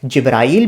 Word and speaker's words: جبرائیل: کہا جبرائیل علیہ السلام، دراصل یہ تلفظ کا فرق ہوتا ہے، جبرائیل بھی کہہ سکتے ہیں اور جبریل بھی کہہ سکتے ہیں، ٹھیک ہے؟